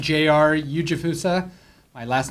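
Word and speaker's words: Ujifusa: Eugjifussa. My last name is spelled UJI Fusa.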